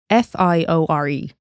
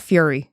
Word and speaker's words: Fiore: Some people pronounce it as Fiore, I think. It's Fiore. Oh, so it's not Fiore. Fiore. No, it's not Fury.